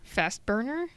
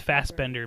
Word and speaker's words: Fassbender: the burger but sure he's pronounced it wrong yeah that's Banshee we're just screaming okay the screaming kid that's banshee yeah yeah yeah his name is Fassbender Michael Fassbender the guy